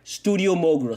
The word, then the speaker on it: studiomogura: I am studiomogura.